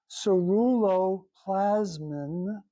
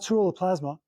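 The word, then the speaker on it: ceruloplasmin: And the amount of ceruoplasine, please say it correctly, ceru plasmine, not cerulopplasma, um, it it doubles in the placenta of the woman's body, or the pregnant woman's body.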